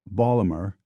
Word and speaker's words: Baltimore: most charitable terms possible in Baltimore pronounced Baler an eagle is an